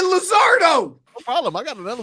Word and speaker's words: Luzardo: It's Luzardo. Yeah, L-U. But not Luzardo, like the gringos say it.